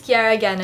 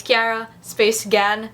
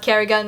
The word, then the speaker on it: Ciara Gan: hi my name is Kiera again and I always say that because some of you still don't want to pronounce my name so it's Cara space again not Kerrigan not tiara ganache arrogance I like to reiterate